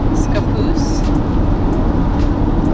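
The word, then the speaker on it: Scappoose: you pronounce it so I would pronounce it scapoose scap like boo but like scapoose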